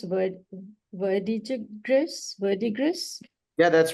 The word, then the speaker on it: Verdigris: So to all the organizers of, I don't know how you pronounce the word, Verdigris?